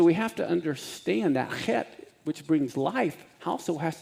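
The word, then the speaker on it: חית: Okay, so let's pronounce the chet, and it's that scratchy feeling in the back of your throat.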